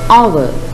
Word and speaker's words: hour: Honest, honor, hour. Again, honest, honor, hour. So, what is the silent letter here? Yes, the letter H is the silent letter.